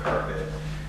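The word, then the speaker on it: CARPD: a california association of recreational park district they pronounce the c-a-r-p or carpet conference which was held in monterey and uh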